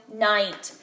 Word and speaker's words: night: Ooh, this time I heard a one-syllable word, night, and I heard a N. Then I heard the I sound in the middle of my word.